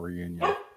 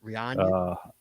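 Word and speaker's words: Réunion: there no and that's it's a french name it's so i i don't know the pronunciation but it's not reunion it's rihanna uh but uh the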